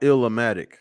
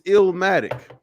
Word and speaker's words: Illmatic: Listen, first of all, it's not Illmatic.